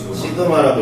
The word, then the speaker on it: 시그마: 그리스자로 S를 뭐라고 읽는지 아니? 시그마라고 읽습니다. 저게 대문자고요.